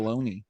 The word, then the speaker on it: Bologna: I'm horrible at pronouncing things, so it sounded good. I was just glad I didn't Sounded say right. Bologna.